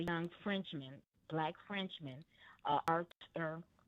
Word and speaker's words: Arthur: He's a Frenchman and his it's spelled A R T H U R. But they pronounce it as in French, Arthur.